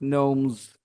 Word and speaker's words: gnomes: They start with G, but they are pronounced gnomes.